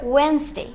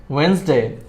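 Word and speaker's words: Wednesday: ওয়েনসডে। ওয়েডনেসডে।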